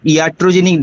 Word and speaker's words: iatrogenic: please ask yes sir what sir what is iatrogenic drug what what is that iatrogenic drug just pronounce pronounce i i a t r o